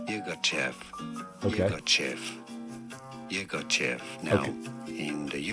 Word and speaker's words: Yirgacheffe: I believe locally in Africa it's said as Yirgacheffe. Okay. Yirgacheffe. Now, in the UK in particular, it's often said as Yirgacheffe.